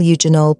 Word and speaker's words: eugenol: Eugenol, pronounced eugenol, belongs to a family called phenolic compounds.